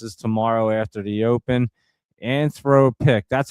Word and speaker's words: Anthropic: Anthropic.